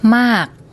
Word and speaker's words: มาก: มาก มาก มาก You hear that when she says